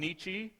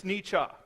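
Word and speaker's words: Nietzsche: this name before or at least the German mispronounced as they most people call him nii however if you are reading the German properly it's ncha anyhow Friedrich Nicha was a philosopher German philosopher about the mid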